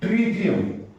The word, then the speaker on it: tritium: I heard people calling it as tritium, some say tritium, but exact pronunciation is tritium.